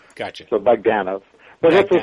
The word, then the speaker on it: Bogdanove: you scratch the itch oh the the emphasis is on the middle syllable gotcha so bagdana but have to say